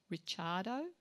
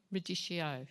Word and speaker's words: radicchio: Is it ricciardo? Radicchio.